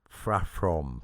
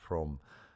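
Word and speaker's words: พรหม: Uh you said frame for Brahma or Prome. You're doing the PH again.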